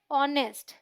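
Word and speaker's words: honest: एच तो consonant है लेकिन इन दोनों में ही एच साइलेंट है हम पढ़ते क्या है our sound uh vowel sound क्या बोलेंगे एन आवर इसे क्या पढ़ते हैं ऑनेस्ट साउंड ऑ क्या बोलेंगे एन ऑनेस्ट पर्सन ठीक है ये बहुत ही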